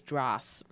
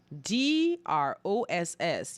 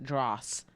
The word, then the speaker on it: dross: word for today is dras d r o s s you might want to pronounce it dross but it's actually pronounced dras i don't understand why